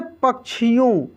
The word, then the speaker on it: पक्षियों: ठीक है, तो इसका जब उच्चारण होता है ना तो क का और श का दोनों का उच्चारण होता है। जैसे पक्षियों, शिक्षा, दीक्षा, रक्षा।